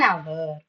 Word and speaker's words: hour: Because in H is silent. So you have to give importance to the second alphabet that is O.